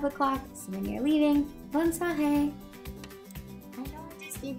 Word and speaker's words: bonne soirée: And this one is just pronounced as bonne soirée. This one you can start saying around 5 o'clock. So when you're leaving, bonne soirée.